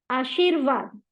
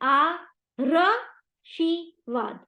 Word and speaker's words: आशीर्वाद: को संभालना है उसको आशीर्वाद आ शी पहले इस र को हम उच्चारण करेंगे आशीर वाद बट आशीरवाद नहीं है आशीर्वाद इसलिए जब यह वाला